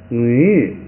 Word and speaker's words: 女: 这个发音不好发，这个调也不好发，也难受，这个意思也难受。咱们再发一遍啊，女。